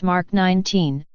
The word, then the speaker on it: Mk 19: the MK 19 grenade launcher pronounced mark 19 is an American 40